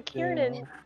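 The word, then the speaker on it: Kirin: Oh, it's like the Karen from Monster Hunter. It is literally the Kieran.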